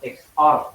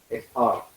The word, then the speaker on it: XOR: Ini adalah eksklusif OR atau XOR bacanya. XOR. Ini yang kita XOR-kan adalah